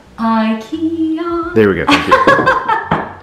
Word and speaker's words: IKEA: I'm like, that cannot possibly be from IKEA, but yeah, no, it's IKEA. That's not how you say it. IKEA.